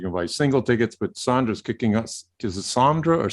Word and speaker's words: Sandra: some people i mean it's spelled sandra but yeah yeah over the years people said sondra you know yeah i'm